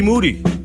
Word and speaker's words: Moody: My name is Michael Rapaport, aka the Gringo Mandingo, and G Moody. Last name rhymes with duty.